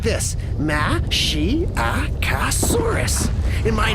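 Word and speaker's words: Masiakasaurus: You say it like this, Mashiacosaurus.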